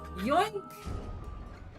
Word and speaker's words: Yoink: Yoink! Yoink? Yoink? Yoink, what kind of name is Yoink? No, you're not saying it right. It's more like... Yoink!